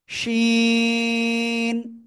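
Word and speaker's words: شين: শিন, sorry 4 আলিফ নয়, এটা 3 আলিফ টেনে উচ্চারণ করতে হবে। শিন, শাসা শব্দ করে, ঠিক আছে?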